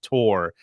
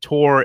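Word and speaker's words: Chtorr: called the war against tor and the tour is spelled c-h-t-o-r-r and it's basically about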